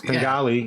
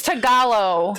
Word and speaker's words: Tagalog: Tengali, you know. And not even all of them. It's Tagalog. Tengalo. Tagalog. You don't even have the right. He doesn't even know how to say it.